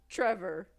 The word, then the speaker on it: Trefor: no this probably means I've been pronouncing everyone's name wrong for the record Trevor t r e f o r Trevor